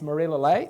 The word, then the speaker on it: Murilo Leie: But uh uh yeah and look it's Marilo Le. So uh that's how it's pronounced.